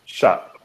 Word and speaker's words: Schott: Is it Schott? Schott. Okay. Like shots.